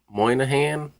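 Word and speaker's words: Moynahan: I think Bridget Moynihan, I think you say her name like that.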